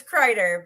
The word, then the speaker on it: Kreider: It's Kreider, but the Kreiders are pretty common pronunciation for it.